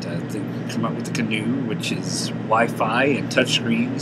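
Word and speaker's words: Caanoo: get the canoe the c-a-a-n-o-o that's how you pronounce it it's canoe it's a new uh a new system from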